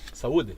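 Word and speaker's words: saúde: Saludi.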